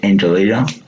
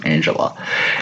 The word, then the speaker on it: Angela: Our main character is Angelina, or is it Angela? Sorry, that's how you say pronounce her name, Angela.